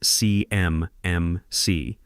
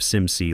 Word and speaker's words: CMMC: She says it CMMC, spelling it out letter by letter like she's reading from cue cards, instead of SimC like anyone who's actually worked with federal compliance would say.